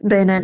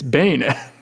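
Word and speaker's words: Banette: It was Bayernet, not Barnett. Why did I think it was Barnett? To be honest, I I also thought I also read it as as Bernett for a long time as a kid and then it was like, wait, it's Bayonette.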